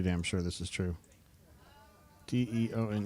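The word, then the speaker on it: Deone: spelled his name wrong his name is not Deontay Walker it's Deon it's on there's no t i can damn near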